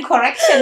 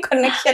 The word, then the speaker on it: connection: Bacanya jangan correction ya, tapi connection ya.